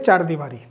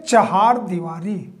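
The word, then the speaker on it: चहारदीवारी: चार दीवारी बोलते हैं, लेकिन चार दीवारी भी शब्द गलत शब्द है, प्रोनाउंसिएशन ही गलत है, उसे बोलते हैं चहार दीवारी। चहार, अब द में छोटी की मात्रा लगेगी या बड़ी की मात्रा? जी, बड़ी की मात्रा। चहार दीवारी, नॉट चार दीवारी।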